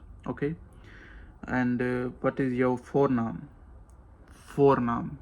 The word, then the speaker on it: voornaam: And what is your voornaam? Voornaam. V is like pronounced F, like F in English, V of Dutch, you know.